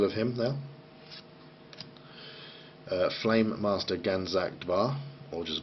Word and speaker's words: Ganzak Dvar: Flame Master Ganzak Dvar, or just Var, probably. I don't think you pronounce that D, but Flame Master Ganzak Dvar.